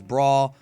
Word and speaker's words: Bra: for that one but her actual name is braw but the question is